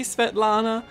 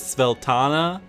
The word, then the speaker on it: Svetlana: And also there's a woman whose name I think was meant to be Svetlana, but her name is Sveltana.